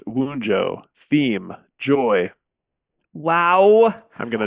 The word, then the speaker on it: Wunjo: Ultimate coincidence of the day, which is Wunjo, letter W and V, pronounced Wunjo.